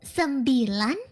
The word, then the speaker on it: sembilan: From 9, it's sembilan. Sambilan.